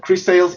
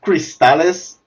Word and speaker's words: Cris Tales: uh particularly is that chris sales it's spelled chris c r i s space t e t a l yes so kind of cristalis in spanish uh but separated um so it's it's of